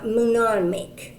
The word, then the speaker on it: mnemonic: Think with me about the words kernel and mnemonic. I can't even pronounce it right. Mnemonic. I am told by historians and linguists that the N in mnemonic is silent.